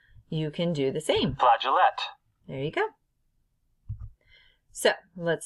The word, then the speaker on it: flageolet: So I Googled, I said, pronounce flageolet.